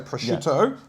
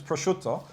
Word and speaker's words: prosciutto: And a lot of people who say prosciutto mispronounce it. It's prosciutto.